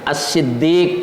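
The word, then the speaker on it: الصدّيق: orang yang percaya ee ditambah ya ya lebih panjang assiddiq ya diberi tasdid kemudian ada Ya Sukun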